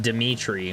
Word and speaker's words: Dimitri: That's Russian, and I have no idea. It's pronounced Dimitri.